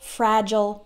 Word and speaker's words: fragile: le and I is an American English speaker pronounce the I le like ol fertile fragile missile versatile hostile but there are some words